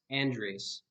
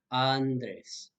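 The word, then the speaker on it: Andrés: beginning of the word an english speaker might be tempted to pronounce the name andres as andres or something like that however this would be a mistake because the letter a as i mentioned will always say ah andres the next vowel in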